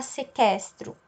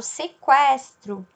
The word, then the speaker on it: sequestro: Mesma coisa o que e o u com o e. Nesse caso, eu não vou falar sequestro, eu falo sequestro, né? Aqui no caso, o é pronunciado, então essa palavra é uma exceção, certo?